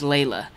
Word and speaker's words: Layla: By the way, the name is pronounced Layla. A lot of guys don't say it right, and it's okay.